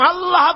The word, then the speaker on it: আল্লাহ: মুখটা একটু গোল হয়ে যাবে বলেন আল্লাহ আল্লাহ পৃথিবীতে বিভিন্ন জাতি তার স্রষ্টাকে তারা যাকে স্রষ্টা